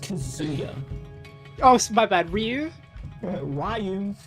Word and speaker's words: Kazuya: Oh Yo, Kasio. Yo, what's up, man? Devil Jin Orochi. Chris, it's it's pronounced Kazuya.